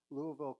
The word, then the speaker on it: Louisville: She and her husband Phil have 2 young adult children and live in Louisville, Colorado. Is that how you say it in Colorado? No, we say Louisville. Louisville. You pronounce all the letters.